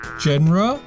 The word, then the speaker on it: genre: Or should it be pronounced Genre? 还是不对，但是很接近了哦。 Oh, it's pronounced genre.